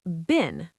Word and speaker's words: been: When we speak fast, been sounds short. Yes, listen closely. I have been working. It sounds like bin, b i n.